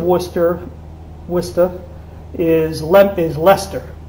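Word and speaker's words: Leicester: wista is lemp is lester which you probably pronounced lease esther well it's it's yeah it's like life sister it's lester yeah lester yeah it and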